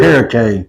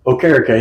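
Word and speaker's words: Okereke: We can't pronounce his name. He had 72 and Walker had 92. All three linebackers. All three. Okare. Okare.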